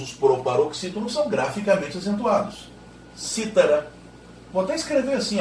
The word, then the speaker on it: cítara: Imagine o mesmo verbo no pretérito mais que perfeito. Citara. No sentido de tinha citado. Citara. Imagine agora, por favor, aquele instrumento musical chamado cítara. E aí a sílaba tônica é a terceira de trás para frente.